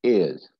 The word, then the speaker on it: heirs: Ears and ears. This AI and EI have the same pronunciation. This H is silent.